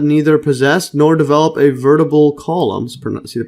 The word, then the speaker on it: vertebral: are animals that neither possess nor develop a vertebral column see the pronunciation vertebral yeah vertebral column uh commonly known